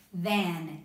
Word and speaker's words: than: Ok, than, T-H-A-N.